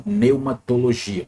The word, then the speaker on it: pneumatologia: Lembrando que no grego P, ele é mudo, então pneumatologia, pelo menos na pronúncia